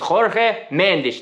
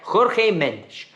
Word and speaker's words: Jorge Mendes: His agent is Jorge Mendes. Tash, did I say it right? Yes. Tash said it right? Jorge Mendes.